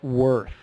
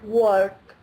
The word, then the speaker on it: worth: more oh thanks Nina try to do a little more with the th because you're ending of that word it's too short how much is it worth how much is it work were know what yeah you got to get that tongue under the front teeth worth can you see